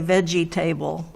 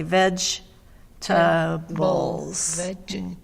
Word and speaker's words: vegetables: an a there and vegetables we say we don't say veggie table but that's what it looks like we say veg bowls vegetables yes three syllables but even though there's table there we don't say table okay okay all right